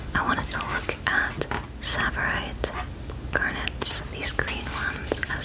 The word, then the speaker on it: tsavorite: about this today, so I tried to look up how to say it, and everybody said it differently. So I'm going with tsavorite because that is what a jeweler said in the video.